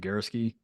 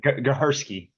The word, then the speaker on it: Gehersky: say your last name, Gariski. I probably butchered that. Yeah, you butchered it. It's fine though, man. I won't hold it again. How do I say it? How do I say it? Gahersky.